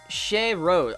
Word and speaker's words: Shay Rose: Pronounced Shay Rose. Oh, Shay Rose, like the flower.